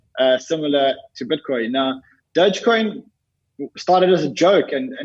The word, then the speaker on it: Dogecoin: for me what is dogecoin how do you pronounce it as a tarnish coin dogecoin so dogecoin is a it's a crypto currency